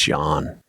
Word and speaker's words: Jahn: John is spelled Jahn. So. It's John.